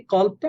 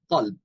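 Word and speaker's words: قلب: এই কলবটা আমাদের অনেক পরিচিত শব্দ। এখন আরবিতে কলব এই শব্দটা লিখতে গেলে কফ লাম বা, এই শব্দটা উচ্চারণ হয় ক দিয়ে, কলব।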